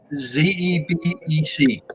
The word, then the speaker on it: Xebec: Can you spell it Xebec? Xebec, Zebec. Try that. Okay. Zebec.